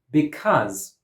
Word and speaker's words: because: In this word, because, Cause has a schwa, but it is stressed.